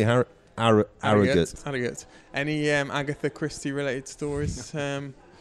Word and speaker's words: Harrogate: George's Hotel in Harrogate. I've been pronouncing it wrong all week. I've been saying Harrogate. Oh, like we got somebody last night, actually. Well, let's hear him now. That's how you say Harrogate.